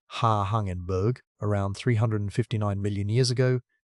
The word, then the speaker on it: Hangenberg: Hangenberg, pronounced Ha Hangenberg, around 359 million years ago did its worst work on land and it is the weird one.